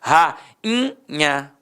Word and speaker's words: rainha: Ra-in-nha.